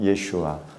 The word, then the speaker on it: 예슈아: 예수님의 그 본토 히브리식 발음 예슈아.